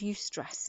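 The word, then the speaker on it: eustress: in in positive stress it's called you stress and it's spelled EU you use stress so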